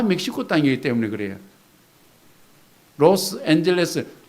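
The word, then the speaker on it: Los Ángeles: 로스앤젤레스, 정확히 하면 로스 앙헬레스예요. 앙헬레스라는 뜻은 멕시코식 발음이거든요.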